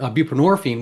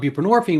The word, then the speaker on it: buprenorphine: So they thought, oh well, we have this other stuff, buprenorphine, which mind you rhymes with morphine, which is a narcotic itself, but it's a little less dopey than than methanone.